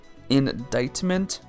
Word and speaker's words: indictment: is interesting IND diment well why is it pronounced like that then if it's indictment indictment there's no C doesn't make sense for some